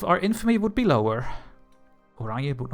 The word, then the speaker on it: Oranje: how do you know how to pronounce that? Because I'm Dutch. Oranje, why are you so angry?